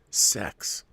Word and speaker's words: CeX: many the high streets called cex pronounced sex the only real option